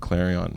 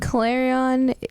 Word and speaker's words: Clarion: Clarion Clarion claran that's it's almost like saying clarinet yeah because I believe